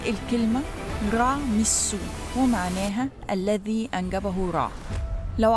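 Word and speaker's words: Ramesses: سو، وهنا سو معناها ضمير غائب بمعنى هو، وتتنطق الكلمة رع مسو، ومعناها الذي أنجبه رع.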